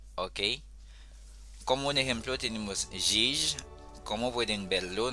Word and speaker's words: jij: Como un ejemplo tenemos jij. Como pueden verlo, no es lo mismo como el sonido J en español, así que tengan cuidado. Eso se pronuncia jij, jij.